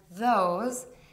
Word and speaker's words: those: on your feet and those a plural pronoun indicating people and things to say these words correctly focus on the initial consonant sounds T and the voiced th sound the adding sound combination